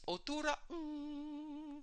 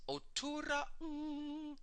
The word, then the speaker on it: Otuuraa'ng: Now, this sound, it's Otuura, and you have to have a slight stop after the A in Otuura. Otuura. It's Otuuraa'ng. There's a slight pause between the part Otuura and Ung. Ung is spelled like the last two letters in the word sing, just the N and the G. N as in nice, G as in go. So it's Otuuraa'ng.